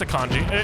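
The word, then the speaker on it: Akinji: Have I been saying Akani this entire time? It's pronounced Akanji. It's a Turkish word.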